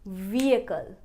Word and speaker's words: vehicle: तो सही प्रोनाउंसिएशन बनेगी व्हीकल, व्हीकल। Could I park my vehicle here? Vehicle, vehicle and not vehicle. Vehicle बहुत ही वाहियात प्रोनाउंसिएशन है, सही होनी चाहिए vehicle, vehicle।